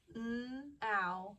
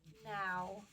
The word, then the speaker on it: now: N, ow, ow, now, now. Now, N-O-W. O-W says ow.